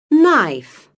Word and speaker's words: knife: Silent K. Knee. Knife.